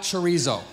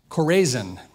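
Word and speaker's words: Chorazin: that chizo was biblical that's not chizo so you know it's actually I had to look it up it's pronounced corzin kind of like cisin but not really so here you go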